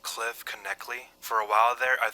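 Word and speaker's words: Cliff Knechtle: I'm pretty sure it's pronounced Cliff Kley. For a while there, I thought it was Cliff Nitchell, but eventually I learned that it was Cliff Kley.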